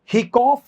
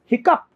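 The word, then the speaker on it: hiccough: अच्छा अब देखो, आप नियम नहीं बन सकता, CHIC और COUGH, अगर ये वर्ड आ जाए तो HIC COUGH, तो ये हिकॉफ नहीं होगा, दिस इज हिकअप, हिकअप।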